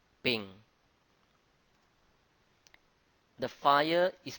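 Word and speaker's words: 丙: The sun is pronounced as Bing. Bing.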